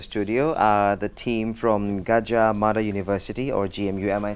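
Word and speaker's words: Gadjah Mada: also in the studio uh the team from gajja M University or GMU am I saying it right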